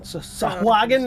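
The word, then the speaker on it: sahuagin: or shark like being the players would know them as sahuagen. Sahagen as Balders's Gate taught me how to say it.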